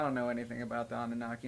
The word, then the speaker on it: Anunnaki: the Annunaki Johnny boy I think you pronounced it a new knock on Ani no no no no no no no it's Anunnaki bro do you know anything